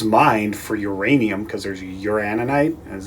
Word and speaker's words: uraninite: in this is mine for uranium because there's uraninite that's how you pronounce it in here old pitch what is